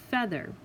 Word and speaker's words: feather: feather here's my break ei should make a long e sound but it doesn't it actually makes a short e sound you hear a and feather so this week you're